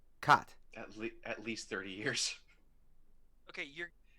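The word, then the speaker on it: Kät: Kat. At least 30 years. Okay, how do you spell it?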